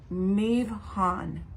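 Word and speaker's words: מבחן: It is mivhan.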